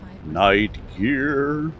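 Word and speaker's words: Night Gyr: Night gear or night guy as some people pronounce it, but I prefer night gear.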